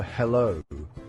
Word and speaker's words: Hallo: It looks like the English word hello, doesn't it? Uh it even sounds very similar. Just say the English word hello as in Halloween. That is very close to the German pronunciation.